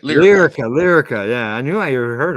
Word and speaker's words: Lyrica: The drug or medicine known as ketamine, ketamine 2, demonstrated up to 112% more effective results than Lycuria, and 70%. What's that? Lyrica, right? Lyrica.